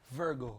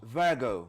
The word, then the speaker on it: Virgo: Is it Vjo Vgo? Virgo. Virgo. Yeah, that's why. That's how you say it.